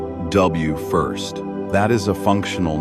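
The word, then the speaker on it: WFIRST: WF I s pronounced W first.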